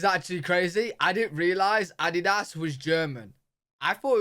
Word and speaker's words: Adidas: Adidas. time, I didn't understand at all what they were referring to because they usually pronounce it Adidas, and in Germany we say Adidas.